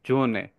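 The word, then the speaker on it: Sonne: শব্দের মধ্যে একে দেখব এটা উচ্চারণ অনেকটা আমাদের থাকবে জ এর মতো বাংলা যে বর্গীয় জা আছে ঐরকম সেক্ষেত্রে এটা আমরা যেমন ছনে বলার কথা এটা আমরা বলি জোনে জোনে হুম জোনেন ডাক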